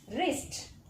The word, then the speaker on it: wrist: Next, wrist. Wrist. In wrist, W is silent, but still we are pronouncing R, Ra sound.